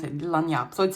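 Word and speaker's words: Lagniappe: So this is how we pronounce it, Lanyap.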